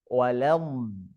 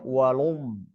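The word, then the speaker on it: وَلَمْ: Berarti harus dibaca walam. Enggak boleh walum.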